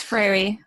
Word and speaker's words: Freire: to me seem what Ferrara was am i pronouncing the name right Freya okay it's Frary fairy okay thank you very